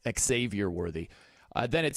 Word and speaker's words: Xavier: worthy by the way he does pronounce the X right there xavior worthy then it says